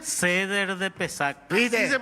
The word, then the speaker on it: Pesach: Seder de Pesach. Así se pronuncia, José.